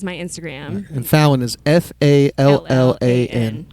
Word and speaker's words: Fallan: And Fallan is Fallan. Correct. Yep. So not like Jimmy Fallon. Fallan. It sounds like Jimmy Fallon, but it's spelled a little different.